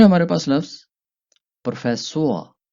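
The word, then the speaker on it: Professor: फिर है हमारे पास लफ्ज प्रोफेसोआ। प्रोफेसोआ, जिसको इंग्लिश में प्रोफेसर या उर्दू में भी प्रोफेसर ही कहते हैं।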